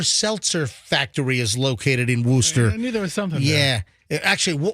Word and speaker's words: Worcester: uh the Polar Seltzer Factory is located in Worcester yeah actually Worcester Worcester no no no it's Worcester and they